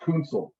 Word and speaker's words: Kunzel: What the Concy. hell is that? Concy. Konsi? That's not a good name. Pronounced Kunzel. What? Yeah, Kunzel.